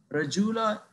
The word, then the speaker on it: radula: Radula or radula, either pronunciation is correct, radula or radula.